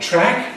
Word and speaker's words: track: An example of this in English is the vowels a and a, which we have, for example, in the word track.